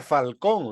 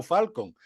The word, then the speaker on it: Falcón: estudiado bastante bien ant Claro que en verdad sería Falcón lo que pasa es que la pronunciación del inglés es Joe falcon pero en verdad sería